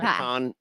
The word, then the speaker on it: pecan: It'd be pecan like pie. pecan.